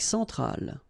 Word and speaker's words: centrale: Centrale, remember, E-N, nasal, so it goes in your nose, en, centrale, all right?